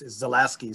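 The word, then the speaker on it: Zalewski: is from new zealand the way he pronounces his own name is zalasky so that was how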